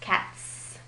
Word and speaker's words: cats: But even though it looks the same, we're pronouncing it differently because the S sound that follows an unvoiced sound, like T, comes out like S, cats.